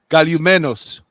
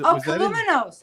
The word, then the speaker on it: Columenos: Was Columenos. Columenos. Which is like hello.